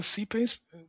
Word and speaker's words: CPACE: We pronounce it CPACE because CPACE stands for Common Payment Application Contactless Extension.